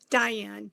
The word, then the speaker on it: Diann: exactly yeah beautiful beautiful so is your name pronounced Diane or Dian Diane thank you for asking Diane very confusing yeah